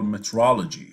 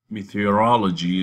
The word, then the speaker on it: metrology: That is not exactly written this way and not pronounced this way, right? So it has an extra E and O. Meteorology, and that's the science of weather. This is metrology.